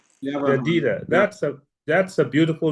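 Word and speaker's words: Jedidah: Jadida. Jadita. That's a That's a beautiful name. How do you spell it?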